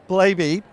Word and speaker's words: Blabey: world and i have aaron blavey rhymes with baby uh direct from the